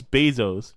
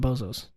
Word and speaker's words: Bezos: a bozo you idiot it's Bezos boo how how do you spell it b e z o but I call him bozos why because he's a